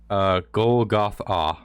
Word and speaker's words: Golgotha: You pronounce it Golgotha.